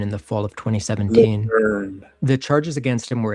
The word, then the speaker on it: Lejeune: Lejeune. The charges against him were extensive. It's spelled Lejeune, but people say Lejeune, and I don't understand that.